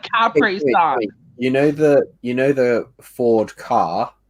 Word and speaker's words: Capri Sun: It's Capri Sun. Capri Sun.